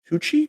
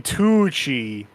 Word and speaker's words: Tucci: that movie has uh pretty sure his name Stanley hoochie is that how you pronounce that Gucci Stanley that's what I said you just know you did it I said Gucci I know Stanley Tucci yeah I did not